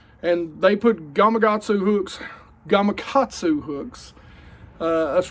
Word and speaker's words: Gamakatsu: they put gatu hooks Gamakatsu hooks uh that's rednecks like to pronounce it Gamakatsu a whole lot but it's Gamakatsu anyway in there and this